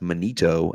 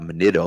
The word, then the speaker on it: Manito: He did correct us and say that his name is pronounced Manito and not Manito, like we've been calling him.